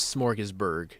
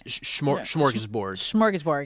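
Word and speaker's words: Smorgasburg: I believe you are pronouncing it the authentic German way. I believe the American way of saying it is smorgesburg. Oh. And the authentic accurate way is smorgesborg.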